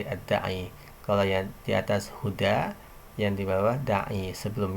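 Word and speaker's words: هدى: Ini ada alif lazimah, atau biasa dikenal dengan alif bengkok. Nah, maka bacanya huda.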